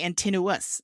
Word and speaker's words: Antinous: But I keep hearing everyone say Antinous, like continuous, and I'm like, what? that's not how I thought you said it. But anyway, my understanding is that Antinous.